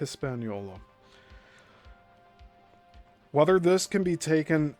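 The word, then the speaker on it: Hispaniola: So I'll just spell that out, too. H I S P A N I O L A. Hispanola.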